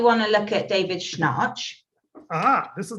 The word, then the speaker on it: Schnarch: So that's why you want to look at David Schnarch.